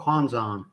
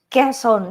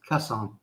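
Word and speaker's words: Quezon: And how come some people call Kwanzan? Somewhere in Manila. at the misspelling it or mispronouncing it. Quon westerners we have a habit of doing well. I know I do like bad kesson.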